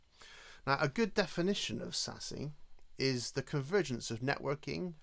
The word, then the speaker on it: SASE: our businesses changes too what is sase or sassy as it's pronounced so firstly it's important